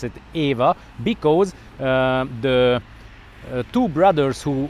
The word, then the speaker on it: Eva: have to pronounce it Eva because the two brothers who founded the company their mother was a Hungarian lady and her name was Eva that's how we pronounce it in Hungarian language and that's why the